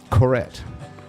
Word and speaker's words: Couret: Couret. Not correct, but Couret. Correct. Couret. That is correct.